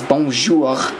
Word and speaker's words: bonjour: bonjour print services and if you want to be more french it's bonjour but um anyway um then you go into the bonjour printer wizard and now i want to say it like a french person anyway no printers are